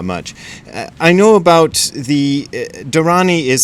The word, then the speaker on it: dharani: which is not much I know about the dharani is spelled d-h-a-r-a-n-i and they are really ancient sort